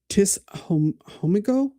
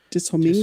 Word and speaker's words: Tishomingo: From Tis Hom Homigo, Oklahoma. I think. I butchered that, but I don't know. Tishomingo. Tishomingo? Okay.